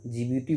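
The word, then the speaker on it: Djibouti: वो देश है दी जिबूती, या जिबूती बोलते हैं, इंग्लिश में डी साइलेंट हो जाता है।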